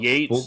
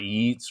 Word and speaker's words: Yeats: Yates, We'll have to like look. Yates. Is it like Yates? Yeats is Yates, not Yeats, right? Yeah. Not like Keats, Keats.